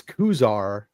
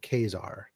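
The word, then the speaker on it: Ka-Zar: It's Kuzar, not Kazar. It's pronounced like Kmart.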